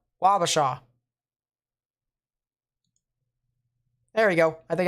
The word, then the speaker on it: Wabasha: specifically a wabasha all right appreciate that so wabasha wabasha there we go i think i got that